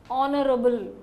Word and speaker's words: honorable: that's right why because we should not pronounce the first letter H here it is Honorable honest honorable honor so